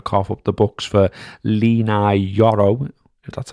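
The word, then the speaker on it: Leny Yoro: AR going to cough up the books for lenai yoro that's how you say his name Money Ball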